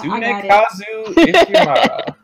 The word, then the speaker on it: Tsunekazu Ishihara: I'm sorry, I can't pronounce his name. I have to break it down. Tsunekazu. Yeah, Tsunekazu Ishihara.